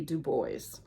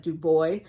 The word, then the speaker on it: Du Bois: And I think the first couple times I said it, I said Dubois, but I know W.E.B. Dubois. I know how that's pronounced. So I know that S goes there, even though it doesn't go there in Illinois.